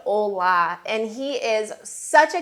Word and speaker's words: Ole: I always thought his name was Ole. I have been saying Ole for years because it is spelled O-L-E, but I found out no, it is indeed Ola, and he is such a character.